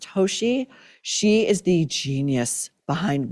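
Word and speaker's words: Tosi: Then Will FaceTimes his wife, Christina, I believe her name is pronounced Toshi.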